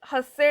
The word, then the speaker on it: Hasse: the directed graph and हस्से diagram on आर कुछ लोग इसको हस्से डायग्राम हेस डायग्राम सस डायग्राम प्रोनाउंस करते ठीक है अगर एक